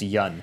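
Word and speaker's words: Yeun: I think it's just Yun.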